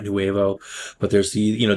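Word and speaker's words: nouveau: I think it's actually pronounced Nuvo, not Newevo, but there's the, you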